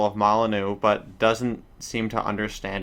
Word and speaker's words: Molyneux: It's pronounced Molyneux. You basically had it right.